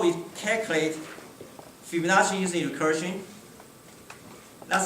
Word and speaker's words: Fibonacci: will be f51 plus fibonacci zero by the way this is like italian so that's really we pronounce chi not g so if you look